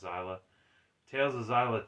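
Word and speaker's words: Xillia: of zyla or and I know it's spelled with an X but it's pronounced zyla Tales of zyla 2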